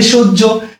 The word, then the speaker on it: সহ্য: এবার একটা ব্যাপার খেয়াল করবা, দন্ত স উচ্চারণে তালব্য স হয়ে যায়, এবং যেহেতু ও এর পরে জফলা আছে, সুতরাং এটা ওকার হয়ে যাবে, সংবৃত হয়ে যাবে, এই জন্য সোজ ঝ হয়ে গেছে।